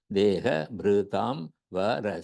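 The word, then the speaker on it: dehabhṛtāṁ vara: Dehabhritam vara. 6 syllables are there.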